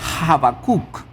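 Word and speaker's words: Habacuc: ver con el profeta Abacuk. El profeta Abacuk. Y el nombre de Abacuk en el hebreo se pronuncia Habacuk.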